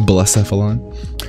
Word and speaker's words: Blacephalon: That's how you pronounce that, Blacephalon.